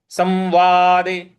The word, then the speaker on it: संवादे: तो योग शास्त्रे श्री योग शास्त्रे श्री कृष्णार्जुन कृष्णा संवादे संवादे स के ऊपर जो अनुस्वार है उसका उच्चारण हमें म के हिसाब से ले आना है। संवादे संवादे इस प्रकार से बोलेंगे तो योग शास्त्रे श्री